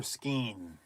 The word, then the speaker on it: skein: It's spelled S-K-E-I-N, but people pronounce it S-K-A-N-E. Who are the skein folks? And who are the skeins? Skein or skeen?